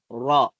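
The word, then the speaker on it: راء: Ang bigkas po sa raw, dahil malabig lang naman yan, R lang naman, no? Kung sa alphabetical, so pero ang pronounce niya ay raw.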